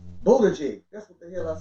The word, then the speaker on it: Buttigieg: I wouldn't want to mispronounce it. Buttigieg. Buttigieg.